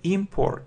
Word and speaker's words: import: it's a noun yes import import yes the stress is on the first syllable and if it's a verb inart import the stress is on the second syllable so is the opposite